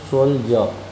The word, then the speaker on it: soldier: This will be pronunciated as soldier. Soldier means सैनिक। यहाँ देखिए आप कि डी का साउंड बड़ी जॉ हो गया है।